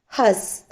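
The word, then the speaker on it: हँस: ഹായുടെ മുകളിൽ അനുനാസിക് വന്നാലും ഹാ എന്ന് മാത്രം ഉച്ചരിക്കും. നെക്സ്റ്റ് സ്, ഹസ്. ഓക്കെ, അവിടെ അനുനാസിക് സൈലന്റ് ആണ്, ഹസ്. അനുനാസിക്കിന്റെ ഒരു ഉച്ചാരണം അവിടെ വരുന്നില്ല.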